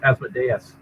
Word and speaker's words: Asmodeus: go talk to him i believe the correct pronunciation is asmodeus asmodeus asmodeus is on